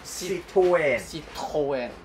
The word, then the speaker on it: Citroën: 咪 Citroën 啊？Citroën 正確嘅發音 Citroën。 Citroën 唔係 R 係有噦痰聲嘅 Citroën 係 Citroën 真係要你先讀到。